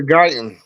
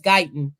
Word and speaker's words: Guyton: Tyler Guyton. I couldn't pronounce. I thought it was good, but yes, Guyton.